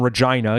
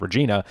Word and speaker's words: Regina: not explicitly about Canada but they do name Regina yes it's pronounced Regina not Regina several times in the chorus even I think